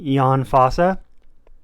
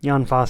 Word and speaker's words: Jon Fosse: I finished um septology by Yan FAA I think that's how you say his name Yan FAA I haven't looked it up or anything but I did say to the Book seller the name John Foss and the Book seller said oh do you mean